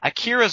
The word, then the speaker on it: Akira: Like, Akira's often considered, we have to mention this one, or Akira. However you want to pronounce it. Yeah. We're fucking American, I'm saying Akira.